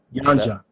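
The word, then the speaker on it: Yanxia: Yanja, or how's it pronounced? Yanja.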